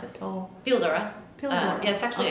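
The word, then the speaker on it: Píldora: I say cold war but how do you pronounce it Oh feel Dora pillow yes actually it's a Spanish word oh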